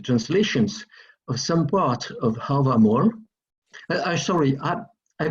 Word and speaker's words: Hávamál: you read the translations of some part of Hávamál, sorry, I pronounce Hávamál, okay?